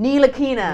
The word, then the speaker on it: Ntilikina: Standing up, I'm never going to be able to Frank pronounce his name without looking at Ntilikina? it. Ntilikina.